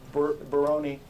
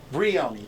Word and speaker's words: Brioni: You don't need Baroni, yeah. I can't even pronounce it. Brioni, thank you.